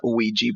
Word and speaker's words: Ouija: but I would argue that it's not an ouija board but a Ouija board based on the way we pronounce it in English in a way that